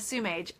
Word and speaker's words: Sumage: about the pronunciation of su mage I say su mage I believe my narrator who says sewage or something along that line Z slurs it a little bit more in the book I